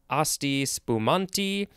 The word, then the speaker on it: Asti spumante: Looks like it has some other possible pronunciations. Asti spumanti, asti, various things.